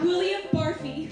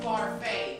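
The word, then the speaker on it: Barfée: Returning after last season's tragic setback, William Barfy. It's pronounced Barfay. There's an accent in you.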